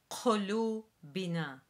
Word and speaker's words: قلوبنا: So qulubina means our hearts, and it is pronounced qulubina, qulubina. Very similar to the transliteration, as you will see. except be mindful of the Q sound, which we've said before is essentially a K sound, but produced in the back of the throat.